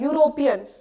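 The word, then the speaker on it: European: बट हम इसको pronounce कैसे करते हैं? यूरोपियन। यू से शुरू होता है।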